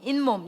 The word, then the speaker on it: 잇몸: 자, 잇몸 인몸 니은 덧나는 거 맞지?